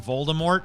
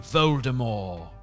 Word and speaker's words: Voldemort: The dude that narrates it doesn't pronounce the T in Voldemort, so he calls him Voldemort. Like, is this French now?